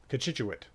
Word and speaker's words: Cochituate: This is Lake Cochituate, which I believe is the proper pronunciation of it. Cochituate. Cochituate.